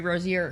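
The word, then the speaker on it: Rozier: And uh am I pronouncing his name wrong? Rosier. Rosier.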